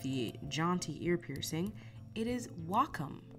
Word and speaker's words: Wacom: though I have to say it right so Wacom Wacom stique learn something new every day so